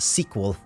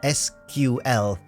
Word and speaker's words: SQL: Also, it's pronounced sequel. Sequel, not SQL. Don't they teach that in comp sci textbooks?